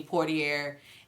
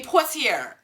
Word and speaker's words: Poitier: the the biracial couple is is concerned Sydney portier um Portia excuse me courtier I really butchered that didn't I it's listen I'm not my Creole ain't good my French ain't good um Sydney Poitier he is he stars in that one and